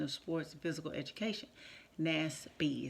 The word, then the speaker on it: NASP: NASP is how you say that.